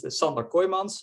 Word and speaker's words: Sander Kooijmans: um yeah so uh as Carlos correctly pronounced my name is indeed summer koimans and I'm a postdoc